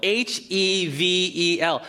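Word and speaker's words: הבל: Well, in the Hebrew, the word for meaningless is the word hevel, H-E-V-E-L. If you took the Bible study course with us, the name Abel is actually pronounced hevel.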